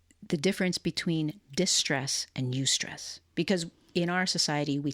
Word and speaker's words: eustress: Of the difference between distress and eustress.